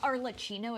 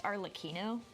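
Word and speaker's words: Arlecchino: while to realize that it's not Arlino, it's Arleino.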